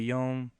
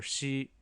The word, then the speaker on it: 四: In this case, we had 0, can be zero or re, and we have 4, it could be yon or shi.